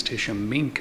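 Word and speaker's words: Tishomingo: here at the Museum the right way to say this is Tish sh me it sounds like it's got a K in it even though it's spelled with a G this town was originally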